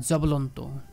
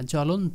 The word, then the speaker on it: জ্বলন্ত: কোন উচ্চারণ হয় না যেমন জ্বলন্ত আমরা এটাকে বলবো না জব্বলন্ত বলি কি বলি না কারণ এখানে শব্দ এর শুরুতে ব্যঞ্জন বর্ণ জ তার সাথে যুক্ত হয়েছে বই এজন্য ব টা কোন উচ্চারণই হবে না জ্বলন্ত জব্বলন্ত না হ্যাঁ স্বাগত না সাবগত এরকম